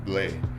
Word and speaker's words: Blais: is my last name it's on blaze PLA is it's French and in France is pronounced bleh well yeah I've been